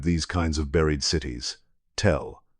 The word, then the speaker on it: tell: Archaeologists have a word they use to describe these kinds of buried cities, tell or in its Arabic Hebrew pronunciation, tell.